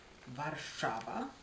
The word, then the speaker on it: Warszawa: So of course Warsaw, in Polish Warszawa. Warszawa, that's how it's pronounced.